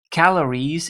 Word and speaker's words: calorie: Calories in Dutch is calorieën. So singular is calorie, emphasis on the final part. That means placing the en after that is necessary, but to make the pronunciation right, you have to put the double dot on the final E.